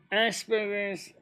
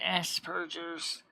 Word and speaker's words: Asperger's: It's actually pronounced Aspergers, Asperger's. There's a P as in Pop-Tart, not B as in butter or beach ball.